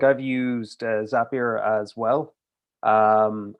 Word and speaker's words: Zapier: myself like i've used zapier as well um i keep pronouncing it as if it's french for some reason uh my brain just does that it's weird uh i keep calling it zapier but it's not but